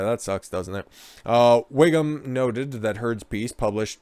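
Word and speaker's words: Whigham: wingham her yeah well it was way pronounced wiggum like you know chief and symptom simpsons ralph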